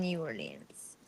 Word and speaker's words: New Orleans: but Deez lives in New Orleans. I don't know how Yeah, to pronounce it.